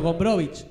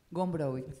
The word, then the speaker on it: Gombrowicz: ¿Por qué se pronuncia con CH y no con Z al final? Porque es polaco.